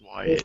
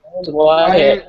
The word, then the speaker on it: Wyatt: His name is Wyatt. Wyatt. I I keep saying Wax because that's how I name. It's um W Y A T P. You pron you do pronounce the Y.